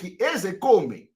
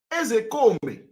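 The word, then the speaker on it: Ozekhome: When I want to pronounce, I pronounce it the way Igbo people are pronouncing it.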